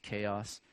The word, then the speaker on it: Ceos: So Simonides of Ceos, or some people pronounce it chaos, was a guy in 546 to 468 he lived, and he was an orator and did different things.